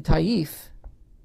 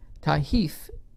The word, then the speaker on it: Taif: mecca and medina the banu to keith in taif because there can be names i'll spell it for the transcribers the b-a-n-u first word second word t-h-a-q-i-f in tahith t-a-i-f were also followers that did not participate